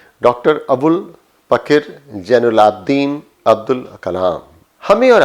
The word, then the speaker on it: पकिर: जब हम कहते हैं पकिर, हम पाकिर नहीं कहते हैं, हम कहते हैं पकिर, तो यह है पकिर।